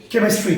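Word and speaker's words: chemistry: तो एच कहीं नजर ही नहीं आ रहा, पढ़ रहे हो को। अच्छा, क्योंकि सी से सौ, सी से को, तो फिर एच कहाँ गया? एच का कोई रोल है?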